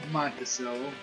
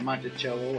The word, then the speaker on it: Monticello: Now, if this has a mint mark above Monticello, or Monticello, however you want to pronounce it, I've heard it both ways.